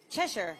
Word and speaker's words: Cheshire: Lori tabom and at Cheshire Connecticut like a cat chesher yep is it chesher